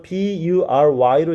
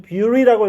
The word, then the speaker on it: bury: 지금 단어 B-U-R-Y로 장난치는데 정말 이상한 단어야. 이 단어 읽어보라 그러면 당연히 우리는 beauty라고 읽겠지. 얘는 발음 기호가 view가 아니라 에야. bury예요. 이상하지?